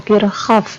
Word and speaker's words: Kirchhoff: Dibacanya hukum Kirchhoff ya.